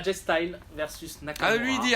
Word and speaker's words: AJ Styles: dis qu'on dit dj mais c'est pâques et jay style et jay style parce qu'il reste versus nakamura